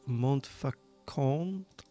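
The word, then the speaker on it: Montfaucon: We have to go to a new location called Mont Fakon. That's how you pronounce it.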